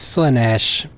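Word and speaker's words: Slaanesh: It's Slanesh. The Eldar have different words for things.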